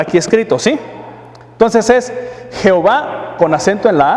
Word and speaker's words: Jehová: El texto dice Jehová con acento en la A.